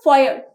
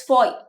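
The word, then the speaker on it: foyer: is known as fo it's not fo uh our is silent over here it's Foy so we enter the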